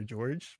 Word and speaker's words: Jorge: You spell it Jorge, but I go by George. That's me. George with a J.